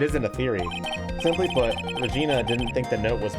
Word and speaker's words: Regina: It's Regina, yeah. But it can be pronounced the other way as well. So fuck you. I googled it. Both pronunciations are technically correct depending on the circumstance. But I'm pretty sure they meant Regina for this one.